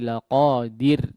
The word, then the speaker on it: لقادر: Innahu ala raj'ihi laqadir. Ya, yang pertama tadi di ayat sebelumnya ya, huruf ra-nya perhatikan di sini ditipiskan kondisinya. Ya. Innahu ala raj'ihi laqadir. Dir, jangan diru, ya. Ditipiskan.